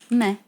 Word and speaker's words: mais: Okay, so now I know this. It's meh. Mais.